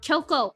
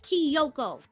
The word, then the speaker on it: Kyoko: You pronounce it Kyoko, bitch, not Kyoko. There's no I there.